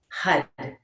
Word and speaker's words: Har: meditating on the mantra syllable Hud spelled into English as h a r, but it's a rolled r and it's a sounds more like rather than har.